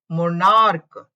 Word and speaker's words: monarch: Rule 3 is while pronunciation of ch is like k, the k, just s is added at the end. ठीक है, अगर ch है लेकिन उसका pronunciation k है, k के रूप में, तो k अगर pronunciation है तो only single s is added to make a plural. For example, monarch. Now here ch is pronounced as k, monarch, monarchs.